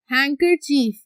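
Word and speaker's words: handkerchief: हैंकर चीफ, इस word को पढ़े, हैंग कर चीफ, डी क्या है, साइलेंट, हैंकर चीफ, एस को हम क्या कर देंगे, खत्म कर देंगे।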